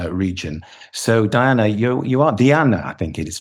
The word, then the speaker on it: Diana: So Diana, you are Diana, I think it is pronounced, isn't it, Diana?